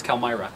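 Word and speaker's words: Calimyrna: It's spelled Calmyrna, but it's Calmyra.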